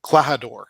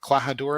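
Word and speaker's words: Klahadore: name is uh uh clahador clahadura i think is how you pronounce it uh and i got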